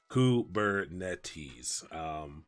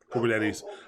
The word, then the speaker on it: Kubernetes: this how you this is how you phonetically pronounce it kubernetes so yeah kubernetes but it is a greek word and i